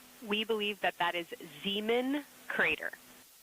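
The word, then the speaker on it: Zeman: We believe that that is Zemen Crater.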